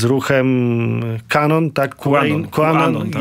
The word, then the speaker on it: QAnon: są kojarzeni z ruchem Kanon, tak? QAnon, tak? Jak to wymawiamy już? QAnon mówimy.